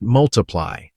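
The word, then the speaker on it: ×: Pronounced multiply, the album included huge hits like Thinking Out Loud, Photograph, Sing.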